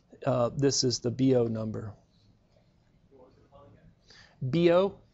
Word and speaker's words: Biot: It would be B-I-O-T in spelling, but the way you pronounce it is B-O. There's a few names and things that I butcher, and I really don't know how to correctly pronounce, but this one is more consistent in the literature. It looks like the Biot number or something, right? But it's B-O.